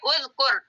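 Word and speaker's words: اُذْكُرْ: manaakarkurik kata perintahnya uzkur Kenapa dibaca u karena Kaf nya barisnya damah maka bacanya uzkur karena ada Fa u-nya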